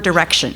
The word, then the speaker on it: direction: that many many times when you say the word Direction the last syllable is just what we call a schwa it's like direction it's just kind of a sound and when we are